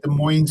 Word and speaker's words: Des Moines: of the city is Des Moines. It's not Des Moines, it's Des Moines. So you pronounce it Des Moines in Gotta put the S on Washington.